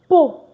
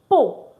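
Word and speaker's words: peux: I'll say po because I like to confirm you can see the board very clearly. Po. So it's spelled P E U S but it's pronounced po mean words I can.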